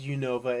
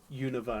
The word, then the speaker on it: Unova: do see you there's some that say unova i'm like it's not unova i used to say it as unova and then i actually like heard a pokedex that said universe and i was just like okay so it's universal okay what about rayquaza yes